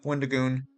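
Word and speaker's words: Wendigoon: very poor name yeah Wonder goon if you're interested it's Wenda and then G for goon right it's Wendy okay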